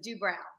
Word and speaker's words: Doobrow: we'll go there first he always says it's like eyebrows so do brown okay so i am